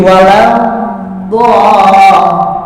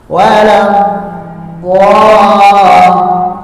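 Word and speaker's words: ولا الضالين: Dot itu punya sifat istitolah. Apa istitolah itu? Istitolah itu adalah imtidadus saut indan nutqi bil harfi, memanjangnya suara. Waladhdallin. Jadi jangan langsung waladhdallin, jangan. Sama dengan alam yaj'al kaidahum fi tadlil. Jangan tadlil, jangan. Tahan dulu.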